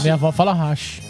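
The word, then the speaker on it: 箸: Ah, hashi. Minha avó fala hashi. Mas hashi. Não é hashi. Porque não tem sílaba tônica também no japonês. Todas as sílabas são átonas.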